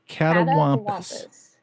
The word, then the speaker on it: catawampus: looking for so you would how did you pronounce it a cat Wampus yes catawampus and where did the the legend or the